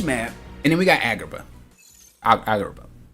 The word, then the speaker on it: Agrabah: Lilo and Stitch map, and then we got Agrabah. Agrabah. Every time I say it, Agrabah, it sounds like I'm not saying it right, but it is right.